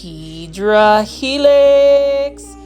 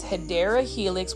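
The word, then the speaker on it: Hedera helix: got to find this hedra helix or the correct way to say it is hadera Helix which is an English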